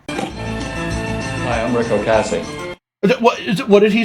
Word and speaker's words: Ocasek: Rick Ocasek. That's how you pronounce his name, okay? I see it all over online where people are like, it's Ocasek or Ocasek or Ocasek. No, how I pronounce it is absolutely 100% correct.